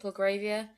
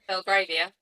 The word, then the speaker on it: Belgravia: Belgravia? Belgravia.